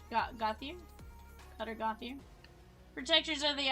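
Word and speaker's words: Gauthier: Cutter Gothic. Gothier.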